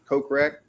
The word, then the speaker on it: Kokrak: From watching Live, though, guys, I think Jason Kokrak, is that how you say his name? Kokrak? Yeah. Good as your guess is as good as mine. No, that is 100% correct.